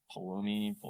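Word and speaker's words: Pulumi: It's pronounced Palomi, something like that.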